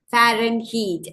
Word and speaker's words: Fahrenheit: Fahrenheit. That H is silent in Fahrenheit, and the correct spelling is A.